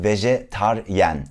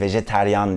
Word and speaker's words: vejetaryen: var ve cetvelin kelimesi Türkçe'de vejetaryen yani vejeteryan değil vejeteryan çok duyuluyor Türkiye'de Ama doğrusu vejetaryen dir arkadaşlar birden fazla dil